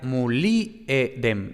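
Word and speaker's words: mulierem: Entonces, por ejemplo, el latín clásico y anterior al siglo III se pronuncia muliedem, ¿no? Es decir, mu-li, ahí va el acento, edem.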